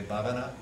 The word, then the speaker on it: bhavana: Say bhavana. Bhavana.